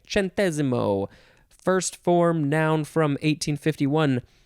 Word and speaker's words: centesimo: would want to say sentesimo but it is actually pronounced centesimo no chen tescentazimo centesimo it's italian by the way chantezimo first form noun from